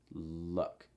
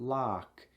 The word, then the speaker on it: luck: Watch out for that word luck. Luck. It's not lock, it's luck. Luck. Schwa sound. So that means make sure that your mouth is mostly closed and you're raising the front of your tongue.